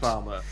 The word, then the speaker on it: pharma: If we were American, you'd hear the R on the end, but you can't because New Zealand is a non-rhotic dialect, and we don't pronounce the letter R unless it's immediately followed by a vowel sound.